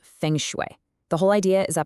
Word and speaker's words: Feng Shui: You say it like Feng Shui, and it's this amazing 5,000-year-old art of placement.